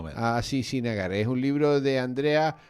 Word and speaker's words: Srinagar: Bueno, entiendo yo que se pronuncia más o menos así, Srinagar.